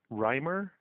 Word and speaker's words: Rymer: It's Reimer, and Reimer is spelled R-Y-M-E-R.